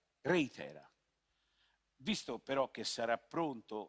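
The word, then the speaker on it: ReiThera: il nome l'hanno battezzato reitera con l'accento sulla era reitera visto però che sarà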